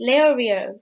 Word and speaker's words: Leorio: Leorio literally doesn't have to be Leorio because it's just Le and then Oreo, like the biscuit.